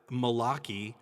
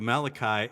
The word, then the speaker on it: Malachi: it said malachi and they pronounced it malaki instead of malachi and and then of